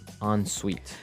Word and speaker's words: ensuite: So even though it's E-N, we pronounce it like an O-N. Yep. Ensuite.